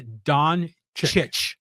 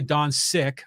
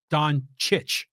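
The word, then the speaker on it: Dončić: you talk to well apparently the C's in his last name are pronounced like a CH exactly so it's not Luca Don siik or Don sich it's Don chit this is coming from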